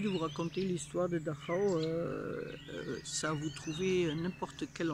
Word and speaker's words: Dachau: Je suis au camp de concentration à Dachau ou Dachau, comme on prononce en français.